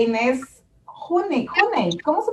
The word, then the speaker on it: Hüni: Pero bueno, buenas tardes, Luciana Biondo e Inés Juney. ¿Cómo se pronuncia tu apellido? Juney, ok.